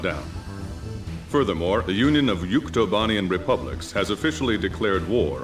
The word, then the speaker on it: Yuktobania: I'm not gonna lie, I'm thinking of the mispronunciation Yuktavania in like the ending cutscene of Ace Combat 7. Yuktavania instead of Yuktobanian, or Yuktobania in this case.